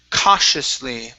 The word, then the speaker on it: cautiously: Next is, okay, our word cautiously. Now we're going to use an SH sound here. So it's sh, cautiously. Cautiously.